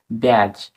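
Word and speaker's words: badge: বসাতে হবে এটাই হচ্ছে নিয়ম তারপরের শব্দটি দেখো ব্যাজ বি এ ডি জি ই ব্যাজ ব্যাজ তো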